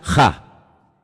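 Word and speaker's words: ה: Se pronuncia ja, solamente hay uno.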